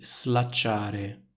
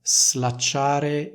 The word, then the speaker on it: slacciare: sono slacciate le scarpe quindi il suono della s in questo caso è più simile al suono della S intervocalica che troviamo in una parola come Rosa Quindi è una z non è una s notate la differenza slacciare e slacciare oppure slacciate e slacciate